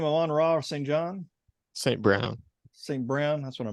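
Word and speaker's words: St. Brown: you say his name on Rob St John saint Brown Saint Brown that's what I meant um and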